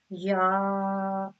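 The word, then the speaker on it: ي: shoe, sha, she, shoe, ya, on it, class of a ya. This is pronounced on the middle part of the tongue, touching the middle part of the palate.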